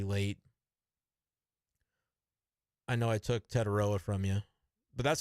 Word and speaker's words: Tetairoa: I know I took Tetairoa from you, but that's because I pronounce his full name. You only say Tet, which his mama does not like.